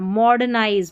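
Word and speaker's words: modernize: जाता है maximum मॉडर्नाइज अब इसको मॉडर्न मॉडर्नाइज ऐसे नहीं पढ़ना मॉडनाइज मॉडनाइज आर का जो उच्चारण है वह आधे र के जैसे होगा ऐसे समझे पूरा र का उच्चारण मॉड मॉड ड र नहीं पूरा बोलना आधा सा र मॉडर्नाइज एक तरीके से साइलेंट ही है मॉडर्नाइज मॉडर्नाइज का मतलब होता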